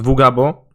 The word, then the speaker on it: vugabo: I mean, just to be clear and uh my name is uh well, I pronounce it vugabo, but I I know uh English speaking people will pronounce it differently, but whatever.